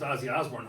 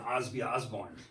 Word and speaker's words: Ozzy Osbourne: I remember you were little enough, I remember you pronounced Ozzy Osbourne, Osby Osbourne.